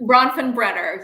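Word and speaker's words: Bronfenbrenner: ecological model that's Brown I can never pronounce his name correctly Brown from Brenner bronfin Brenner yes yeah you got it all right because I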